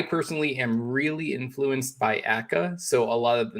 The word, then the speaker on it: Akka: I hope it's pronounced Akka. I think so too. Yeah, Akka.